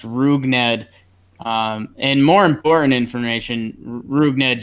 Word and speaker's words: Rougned: we're watching you yeah they're saying it's pronounced rougned and more important information